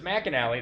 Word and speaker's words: McAnally: So it's Mac and Allie.